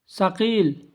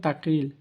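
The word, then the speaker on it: ثقيل: আপনারা কাসির বললেও চলবে সাকিল অর্থ ভারী আর আমরা বলতাম আগে তাকিল তাগিল কেউ বলে তাগিল কেউ বলে তাকিল ভুল এখানে আমি আরবিতে লিখি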